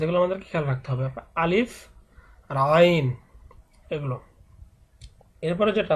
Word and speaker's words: আলিফ: আমরা অনেকেই হয়তো বা আলিফ উচ্চারণ করি, কিন্তু এটা আলিফ নয়, এটা কিন্তু আলিফ।